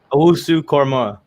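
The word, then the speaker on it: Owusu-Koramoah: Owusu Korma.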